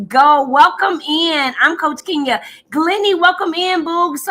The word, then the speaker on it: Kenya: thank you so much, but it's Kenya, long E, not Kenya.